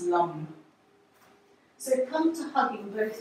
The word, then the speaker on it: lam: and your head is lamb l-a-m or pronounced lung so come to hugging